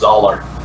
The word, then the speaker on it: Zahler: Oh, just to let you know, I heard him on a podcast once. I think it's pronounced Zahler. Oh, okay.